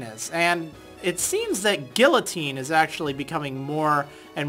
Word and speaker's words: guillotine: But after reading in the comments, I was kind of prompted as to, you know, what the correct pronunciation is. And it seems that Guillotine is actually becoming more and more prominent nowadays.